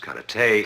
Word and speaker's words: karate: your mistake cat Ruddy as you call it correctly pronounced karate is a defensive form